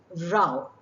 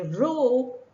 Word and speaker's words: row: it refers to cuddling when you refer to a quarrel it rhymes with cow so you say Rao and if you were to refer to the act of paddling you would say row rhyming word to an example might make that very clear the boatsman had a row about who withdrew first Rao rhymes with cow row rhymes with two are we going to